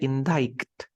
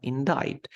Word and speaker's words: indict: seek Abby in diet when you say indict no indict to accuse someone of